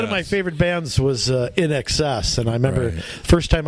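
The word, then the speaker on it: INXS: Where's In Excess? I didn't know how to pronounce it.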